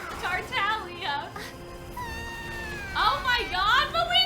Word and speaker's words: Tartaglia: Tartaliga. Tortellini? Tortellini? How do you say it? Tartaglia. Tartaglia.